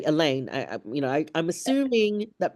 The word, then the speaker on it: Elaine: and then see me I've had some reactions where they then mispronounce the Elaine to like Elan or um right I've been asked what's your oh that's your English name.